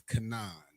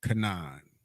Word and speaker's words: Canaan: so Lo it so the English pronunciation is Kanan kaan Canan so the Hebrew will be